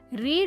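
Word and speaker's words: read: ரீட் என்ற வார்த்தை அதே விதத்தில் பிரசென்ட் டென்சிலும் பாஸ்ட் டென்சிலும் எழுதப்படுகிறது. ஆனால் அதன் உச்சரிப்பு வித்தியாசமானது. வி ரீட் books every night என்பது பிரசென்ட் டென்ஸல் உள்ள ஒரு வாக்கியமாகும். இதன் பாஸ்ட் டென்ஸ் வாக்கியம் வி ரெட் books last night ஆகும்.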